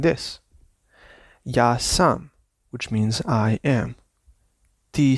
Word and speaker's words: ja sam: when you speak them, you should not emphasize the verb. You should always emphasize the personal pronoun. Ja sam, ti si, on je. Not ja sam, ti si.